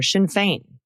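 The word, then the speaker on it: Sinn Féin: Pronunciation. The Irish political parties you mentioned are Shinfane and Fina Gale. Also the Republican candidate for New Jersey governor, Jack Chitterelli.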